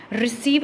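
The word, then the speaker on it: receive: गया है, रिसीव एक वर्ड है रिसीव। रिसीव को जब हम ट्रांसक्रिप्ट करते हैं तो इसका ऐसे आता है रिसीव, आर ई, री की साउंड आ रही है, फिर एस, फिर रिसीव। ये जो पीछे वाला ई है ये थोड़ा सा लंबा बोला जा रहा है, लंबा बोला जा रहा है, तो ये इसको क्या कैसे लिखते हैं? पीछे 2 डॉट लगाते हैं।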